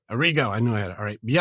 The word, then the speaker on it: Arrigo: Arrigo.